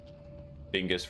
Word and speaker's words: Bingus: Bingus rhymes with schmingus. A lot of things rhyme with bingus. Like schmingus, blingus, gongus.